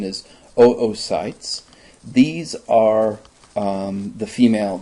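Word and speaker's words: oocytes: Remember the pronunciation is oytes.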